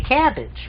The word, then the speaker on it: CABG: instance if you saw cabbage CABG which is an acronym for coronary artery bypass graft we don't say CABG we say cabbage right but if you